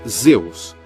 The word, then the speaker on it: Zeus: tempestade era de aos em grego pronunciava-se Zeus e em latim e